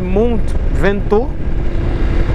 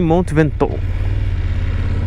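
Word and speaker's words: Mont Ventoux: indicaram aí Monte Vent em português se fala Monte ventor em francês deve ser Mont vento e se escreve Mont ventox enfim ele tem uma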